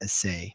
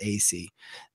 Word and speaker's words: AC: And like to an extent, like this is where like one of the things that Matt AC, by the way, is how we pronounce his name, not Assay, Matt AC.